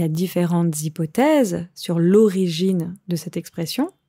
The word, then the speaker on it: hypothèse: Attention ici à la prononciation de hypothèse, ça s'écrit avec un H, comme en anglais avec hypothesis, mais en français, on ne prononce pas le H.